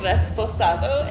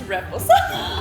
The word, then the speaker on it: reposado: You've been saying resposado and it's reposado. It is reposado. And you know what, Reposado. Leslie? You can tell me when I'm wrong. It's okay. It's reposado.